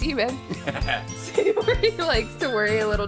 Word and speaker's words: Sayori: Whatever you say, Sayori. You pronounced that correctly.